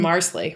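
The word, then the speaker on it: Marsali: And we find out he was making a little potpourri from Marsley. Rhymes with parsley.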